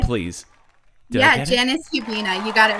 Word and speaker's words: Janis Hubina: Did I get I'm sorry, I think I mispronounced your name at the beginning. Can you give us your full name, please? Janis Hubina.